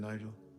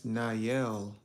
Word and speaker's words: Nayel: What happened, Nigel? Was it? Oh, I've been saying your name wrong. It's Nayel. It's Nayel, right? Or is I don't know why I said I thought the Y was a J.